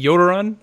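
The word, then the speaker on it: Jötunn: how is he saying Yoda run I think like that they're not you don't pronounce the J is a fusion rifle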